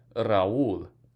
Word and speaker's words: Raúl: Raúl, 2 syllables, accent on the U.